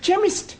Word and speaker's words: chemist: begin with a cake it sounds like it begins with K CH that is making it chemist Oh the CH is